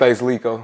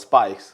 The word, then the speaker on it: SpvceLiiiko: How you say it? SpvceLiiiko. Because the way I ain't gonna front, man. The way you spell it, I always thought it was Spice. Nah, it's SpvceLiiiko. So Space. I'm gonna call you Space, man.